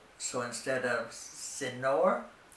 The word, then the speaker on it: señor: When you see an ñ, remember that it has an invisible Y right after it. So instead of señor, it's señor.